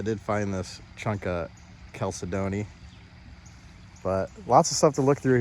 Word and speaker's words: chalcedony: I guess it's pronounced chalcedony, so not chalcedony.